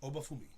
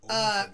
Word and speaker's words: Obafemi: Obafemi. Obafumi. Femi. Femi. F-E-M-I. Yes. Obafemi.